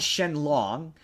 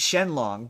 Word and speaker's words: Shenron: they they they okay they call Shenron Shen long which is like yeah okay technically speaking that's his name in Japan right that's but but